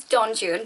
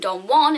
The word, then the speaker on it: Don Juan: actually not correct because it's based on Byron's John June which it is it's very clearly based on